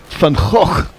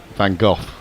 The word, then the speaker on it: Van Gogh: Well, I think if you're doing the proper Dutch, it would be Van Gogh. Well, I think the anglicised version would be Van Gogh, like Darren Gough almost. And Americans tend to pronounce it Van Gogh.